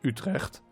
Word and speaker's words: Utrecht: pronounce that that nation utrecht but i can tell you i'm dutch that's actually how you should pronounce it it's it's very dutch the dutch language i